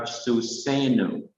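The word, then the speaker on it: סוּסֵנוּ: Then we have Susenu, and wherever you see the arrowhead, it is a sign that this syllable needs to be stressed.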